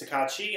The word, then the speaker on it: Tokatti: start first of all I have been pronouncing his name wrong this entire time is tekachi I will do a